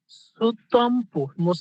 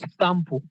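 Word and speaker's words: スタンプ: তাহলে এখানে কি সুতাম্পু বললেও হবে, আবার স্টাম্পু বললেও কিন্তু হবে, এক্সাক্ট উচ্চারণ হচ্ছে স্টাম্পু।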